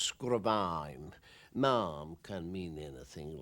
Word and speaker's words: Sgùrr a' Mhàim: an early start the first would be is pronounced scrubbing mom can mean anything like really a lump on